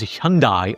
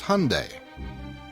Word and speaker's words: Hyundai: It's Hyundai, like Sunday.